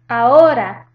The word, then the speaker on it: ahora: The H is silent, so it just goes with the next vowel.